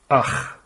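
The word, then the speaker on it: אח: And this word is pronounced as akh. And in Arabic it's akh. So it's the same word.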